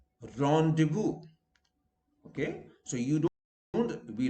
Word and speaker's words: rendezvous: Where Z is silent, rendezvous. Okay, so you don't, we wrongly say rendezvous. No, S is in any case silent, but here Z is also silent. So it is rendezvous, not rendezvous or rendezvous.